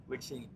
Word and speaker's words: Ligchine: Ryan Olson, now Director of Marketing for LigChine. Did I pronounce that right? LigChine.